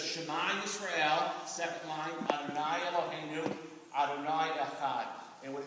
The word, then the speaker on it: Adonai: In the last line, the first word there is pronounced Adonai.